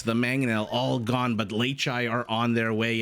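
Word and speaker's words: Leičiai: And yes, that is how you pronounce the plural of Leitis. There have been some comments on my wall recently suggesting that perhaps Leichai is not the right way to pronounce it, but I have it on good authority from a Lithuanian viewer that is actually how you pronounce it, and also how you spell it.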